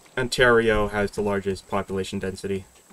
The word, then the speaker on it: Ontario: know how to pronounce. Ontario.